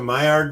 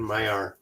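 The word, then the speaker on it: Maillard: get these dry the myard reaction myard reaction I I think the D is silent but I'm just going with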